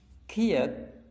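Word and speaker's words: 키읔: Jadi dua konsonan ini sama-sama untuk simbol bunyi huruf K, namun perbedaannya adalah Kiek atau bunyi huruf K, namun di dalam pelafalannya disertai angin yang merabas keluar.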